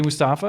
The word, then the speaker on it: Mustafa: Well, I got to say Mustafa, and I assume I'm pronouncing the first name correctly.